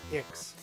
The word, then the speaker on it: 7iX: So this is pronounced Ix. You have to kind of stop yourself from saying something and then say X.